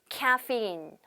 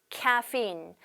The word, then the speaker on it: caffeine: 네, 카페인 이게 아니고 caffeine. caffeine. 네, 스펠링도 좀 어려워요.